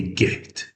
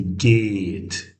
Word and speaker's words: geht: When you have this h r in one word, the vowel before it is lengthened, this becomes long sound. And this h silent, like geht. We don't say get. Say geht, a bit longer.